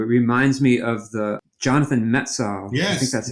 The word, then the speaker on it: Jonathan Metzl: It reminds me of the Jonathan Metzl.